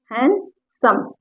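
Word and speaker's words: handsome: जैसे इसको ए है हैंडसम, तो यहाँ पर डी साइलेंट है इसलिए हैंडसम।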